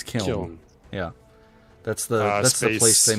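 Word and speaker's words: Kyln: Is it Kylin? K-Y-L-N? Sure. Never heard of it before. Kyle? It's Kiln. It's Kiln.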